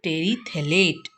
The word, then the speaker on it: terephthalate: Pronunciation is polyethylene terephthalate. PH is silent here.